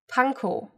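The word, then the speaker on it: Pankow: end in o w panko but they're pronounced like oh it's not off it's not the russian ending it's just o and then i want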